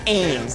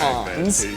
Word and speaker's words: Ans: So on TikTok, their name is ANS, and I always called it Ons, and no one ever corrected me. When we moved over to Twitch, we saw the name was Ainsley, meaning it's correctly pronounced Ains, not Ons.